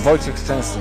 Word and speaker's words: Wojciech Szczęsny: Well, it's Wojciech Szczęsny, if you say it properly.